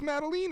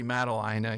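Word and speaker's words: Madeleine: you on the name so it is Maline is that correct have we been saying it wrong time yes I still say mateline I don't know why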